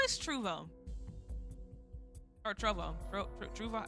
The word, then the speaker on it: Trovo: Okay, I meant to ask how how is Trouvo or Trovo? Trouvo, how do you pronounce it? Trovo.